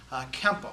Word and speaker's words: Kempo: credit to the Chinese as Kempo, which is just the Japanese pronunciation of the words Tuanfa, which is Chinese for boxing, right?